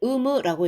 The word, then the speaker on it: 有無: 일본 종합연구소에서는 가족의, 가족의 의문이, 자, 유무는요, 일본어로 의무라고 읽습니다. 유무라고 읽지 않도록 발음에 주의해 주시면 좋을 것 같아요.